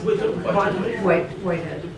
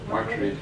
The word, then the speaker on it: Whiteread: No, it's Whitehead. No, that's not right, is it? Whiteread. Whiteread, that's it.